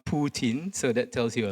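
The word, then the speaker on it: poutine: I'm not sure Kijin Chin will agree with me, but yeah, this is probably the most famous dish and it's pronounced puin.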